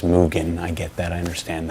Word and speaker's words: Mugen: on i'm gonna again i'm gonna call it mugen mugen petals it's pronounced mugen i get that i understand that uh but